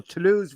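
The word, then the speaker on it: Toulouse: B the other semi-final to lose we quns how do you say that go for quick to lose right great job Mike in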